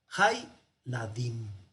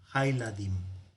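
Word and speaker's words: הילדים: Se cierra la sílaba y este Sheva que tenía sonido ahora ya no lo tiene y queda Hay y cerrado. Hay Ladim.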